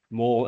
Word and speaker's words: mol: It's the world's stupidest abbreviation because it's one letter different and it's pronounced exactly the same.